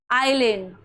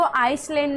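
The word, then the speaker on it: island: जैसे यहां पे है आइलैंड तो इसको आइसलैंड नहीं पढ़ना है। क्यों? क्योंकि यहां पे क्या है? एस साइलेंट है।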